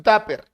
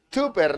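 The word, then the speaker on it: Tupper: Pásame tu táper. La marca, ¿no? Que se escribe de esa manera. Táper. Táper. Táper. Se pronuncia táper. ¿Ya? Pero tú no escribes túper, ¿no? Tú dices táper, dices.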